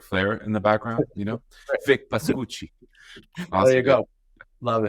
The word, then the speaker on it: Pascucci: The Italian sense is Pascucci. Pascucci. There Yeah, you that's go. it. That's Good. why I wanted to say with like that dramatic flair in the background. Vic Pascucci.